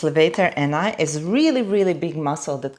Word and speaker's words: levator ani: I can never say it properly from the first time, but so it's levator ani.